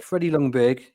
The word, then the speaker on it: Ljungberg: Played for Lundbeck, or how you pronounce it, yeah. Lundbeck. I'll give you that. Freddie Ljungberg is the Yeah, current that's who I was holder.